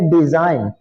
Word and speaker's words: design: जैसे हम लफ्ज देखते हैं डिजाइन, DESIGN, डिजाइन। अच्छा देखें इसमें जी की आवाज नहीं आ रही।